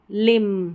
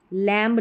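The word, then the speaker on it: lamb: बाकी स्पेलिंग्स देख लेते हैं, जैसे बॉम्ब नहीं, बॉम्ब, क्रम्ब नहीं, क्रम, लिम, थम, थम्ब नहीं, थम। एम तक ही साइलेंट, एम तक ही स्पेलिंग्स जो प्रोनाउंसिएशन स्टॉप हो जाता है, बी साइलेंट रहता है।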